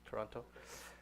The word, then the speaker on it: Toronto: Toronto and I think I'm saying it right Toronto right Toronto without the tea Toronto Toronto so I came